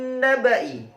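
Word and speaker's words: نَبَإِ: Baik, selanjutnya adalah "min naba'i". Hati-hati, 'ba' dibaca pendek.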